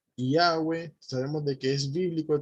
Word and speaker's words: Yahweh: El consenso al que más se ha llegado es que es Yahweh.